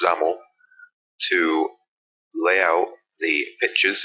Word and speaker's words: XAML: same technique we're using X AML pronounced zaml to lay out the